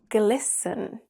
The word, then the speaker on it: glisten: glisten and christen that rhyme with listen.